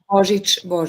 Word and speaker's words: Božić: Božić, right? If I'm pronouncing her name right, Božić. Yeah, Božić. Yes, Božić. Excuse me.